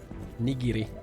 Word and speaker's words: nigiri: Nigiri.